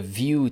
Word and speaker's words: Vue: like in four words view pronounced view like view and like a view right is a progressive